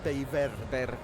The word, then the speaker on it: Bellver: I've been told in in Castiano pronunciation it's bel and I think in Catalan it's probably Bever.